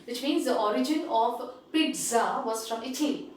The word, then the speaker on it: pizza: It is actually, the correct pronunciation is pizza.